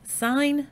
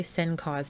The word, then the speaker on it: sin: t a n but you still pronounce them as sine cosine and tangent don't say sencos tan still sine cosine